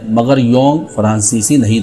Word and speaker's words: Jung: Yong बहुत से जाहिल इसे जंग पढ़ते हैं, और कुछ जोंग जिन्हें काबिलियत का हैज़ा हो जाता है वो जोंग पढ़ने और लिखने लग जाते हैं।